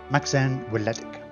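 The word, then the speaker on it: Macsen Wledig: It's a Welsh name, Maxen Weledig. Maxen Weledig. We'll probably just refer to him as Maxen for the most part. Maxen Weledig.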